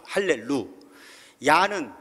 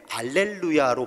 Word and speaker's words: 할렐루야: 언어에 따라서는 라틴어, 그리스어 이렇게 번역이 되면서 히브리어가 가지고 있는 강한 발음이 되지 않는 언어 때문에 알렐루야로 번역이 되고, 여러분 가끔 찬양하시다 보면 알렐루 알렐루야 이렇게 찬양을 하죠.